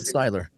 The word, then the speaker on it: Seiler: Styler.